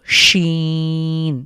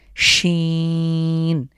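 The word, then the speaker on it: ش: মাথা এরপরের লেটার হলো শিন একটা শিশি আওয়াজ হবে শীষ ধ্বনি শিন তো সিন এবং শিনের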